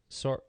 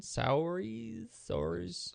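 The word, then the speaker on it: Saoirse: How do you say Suarez Ronan? Sours? I think it's Charisse.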